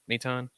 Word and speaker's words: Maton: Right, Maton.